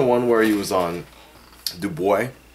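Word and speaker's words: Dubai: where he was on do boy I think that's actually how you're supposed pronounce it do boy I read something like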